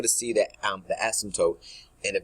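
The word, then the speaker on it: asymptote: understand so we're called ASM tootes so the p is kind of is silent so with that it's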